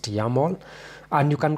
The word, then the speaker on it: YAML: This is how it's pronounced, YAML.